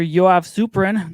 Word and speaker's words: Yoav Suprun: Yoav Suprun. Did I pronounce it right that time?